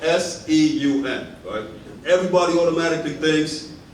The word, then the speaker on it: Segun: much stop going by that time she actually pronounce my name correct you see my name is called s eu men everybody automatically thinks it's Sean what's actually put down shame now first up